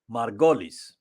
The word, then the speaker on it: Margolyes: Now, when Miriam Margolyes Her second name is spelled Margolis, but I think her second name is pronounced Margolis.